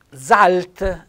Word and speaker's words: zalt: Zalt, ecco, zalt, giallo. Zalt, sentite, con la Z dolce.